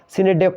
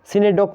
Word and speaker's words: synecdoche: जो कुछ बीच पढ़ना है मतलब सिनेक डॉक, जो भी मतलब सिनेक डोचे जो कुछ भी लिखा है ये यहाँ पर साइलेंट होगा, यहाँ पर HE जो है वह साइलेंट होगा। सिनेडोक को इसको पढ़ते हैं, क्या पढ़ते हैं? सिनेडोक पढ़ेंगे इसको।